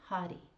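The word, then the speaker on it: Hari: She plays Shin Hottie. H A-R I. And since there's no R in Hongu, it's like a a D. So if you say her name Hottie, uh it kind of sounds like hottie.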